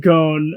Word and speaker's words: Gon: Am I Am I pronouncing that right? Um yeah, it's gone.